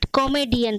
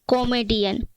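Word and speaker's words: comedian: क्या बोलते हैं कॉमेडियन पढ़ते गलत उच्चारण करते हैं कॉमेडियन पर इसका सही पेंशन होता है कम Indian army Indian CEOs मीडिया एन कम इंडियन हास्य अभिनेता हास्य अभिनेता इसका सही प्रशिक्षण क्या है कमीडियन कमीडियन अ कि आज से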